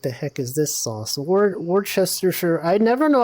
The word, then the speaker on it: Worcestershire: Worcestershire. I never know how to pronounce this.